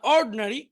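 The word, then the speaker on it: ordinary: আবার দেখি, অ্যাটেন্টিভ মনোযোগী, ইনঅ্যাটেন্টিভ অমনোযোগী, ইন্ডাস্ট্রিয়াস পরিশ্রমী, আইডল অলস, এডুকেটেড শিক্ষিত, ইগনোরেন্ট অশিক্ষিত, ইন্টেলিজেন্ট বুদ্ধিমান, অর্ড এখানে আইটা উচ্চারণ হবে না, অর্ডিনারি সাধারণ।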